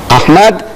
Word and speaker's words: Ahmed: She says, spell it. So I started spelling it, A-H-M-E-D, Ahmad, D-E-E-D-A-T, Deedat.